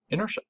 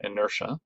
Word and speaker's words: inertia: our third definition is inertia and it's it's a weird word it's weird the way that it's uh pronounced because the ti is actually a sha sound so inertia right um is the